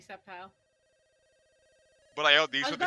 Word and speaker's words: Sceptile: I knew too many people who pronounce Sceptile as Skeptile, and I really don't like that. No, it's definitely Sceptile.